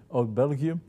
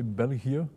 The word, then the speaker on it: België: België de 1952, mais aussi au niveau de la